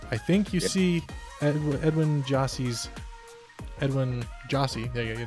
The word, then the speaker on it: Gyasi: The official pronunciation guide for FC Dallas says it is pronounced JAH-SEE. So Gyasi.